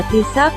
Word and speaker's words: Taoiseach: Người đứng đầu nhà nước, người đứng đầu chính phủ là Taoiseach, phát âm là Taoiseach, có nghĩa là thủ lĩnh.